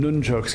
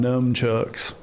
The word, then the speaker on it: nunchucks: And it was you pronounce them nunchucks. Cuz if you want if there's one way you wanted to make my father lo lose his ever loving was to call him gnomechucks.